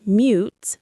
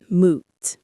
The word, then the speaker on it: mute: For example, the word mute is pronounced mute, not moot.